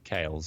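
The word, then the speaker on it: Kailh: or kick how do you say it okay kales yeah there was called kales they hold kales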